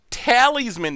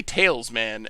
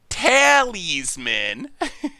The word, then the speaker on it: Talisman: I used to say Talesman, and everyone yelled at me for Talesman. So then I tried to pronounce it the way the letters suggested, and apparently that's not right either.